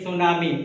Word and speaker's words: tsunami: Normally T is silent, but still we can say tsunami.